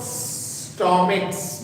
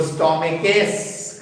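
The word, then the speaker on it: stomachs: लेकिन इसका प्रोनाउंसिएशन च है क्या, नहीं है, क है। क को स्टोमिक्स बहुत आराम से बोल सकते हैं, तो उसको स्टोमिकेस करने की जरूरत नहीं है, स्टोमिक्स बोल दीजिए, हो जाएगा।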